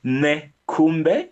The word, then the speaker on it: Nekhumbe: So my surname is Nekhumbe. That's spelled N for November, Okay.